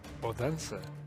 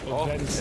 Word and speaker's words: Odense: NATO Sapphics, who lives in Odense, was telling me that you've got to pronounce the D as a TH, kind of like a the sound. Odense.